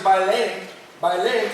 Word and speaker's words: Balaam: His name is Balaam, and the way it's pronounced is actually Balaam.